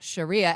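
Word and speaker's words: Charia: In fact, that issue was entitled Sharia Hebdo, and Sharia is French for Sharia, as in Sharia law. Sharia spelt with a C-H like Charlie.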